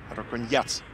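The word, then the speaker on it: Раконьяц: И Артем Загуменов мне сообщил, что на букву «Я», то есть на последний слог ударения у этого балканца. Так что он Марко Рокьянец.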